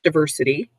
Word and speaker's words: diversity: two or three diversity 1 two 3 four syllables diversity and the emphasis on the ver is a noun and